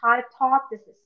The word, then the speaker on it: hypothesis: Can you pronounce the word again? Hypothesis. Hypothesis. Don't forget the TH sound.